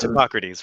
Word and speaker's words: Hippocrates: the great greek physician hippocrates i believe that's how you say his name um you have the he wasn't a hypocrite he was hippocrates right yeah yep um